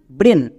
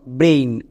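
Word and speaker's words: brain: তাহলে একসঙ্গে উচ্চারণ করো, বি আর এ আই এন, ব্রেন। এবার আমি যদি এখানে এ আই এর জন্য করতাম তাহলে এর উচ্চারণটা হতো ব্রেইন। সো দুটোই বলতে পারো।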